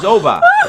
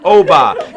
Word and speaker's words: Obba: I said, my name is Obba. And he says, what do they call you for short? I said, there is no short. It's just Obba. It's 2 syllables, like Mary, Bobby, Tommy, Johnny, Mary. You can do it.